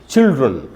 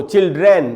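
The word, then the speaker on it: children: sound निकलता है यानी इस वर्ल्ड को हमको पढ़ना चाहिए चिल्ड्रन इसको चिल्ड्रन भी नहीं बोलना चाहिए हमको क्योंकि ए का साउंड नहीं है ये आधा और का साउंड है इसलिए उसको पढ़ेंगे चिल्ड्रन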